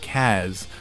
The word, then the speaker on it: Kaz: up I had said that David pronounces Casas cause instead of Kaz throughout all of Peace